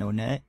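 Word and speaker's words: Onett: Okay, right here is the in-between area of Twoson and Onet. Or Monet. It doesn't matter how you pronounce it. Both are correct in my opinion.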